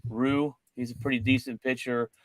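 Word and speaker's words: Ryu: It's Rue.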